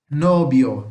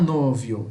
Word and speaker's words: novio: Nobio, não novio, é nobio, tá?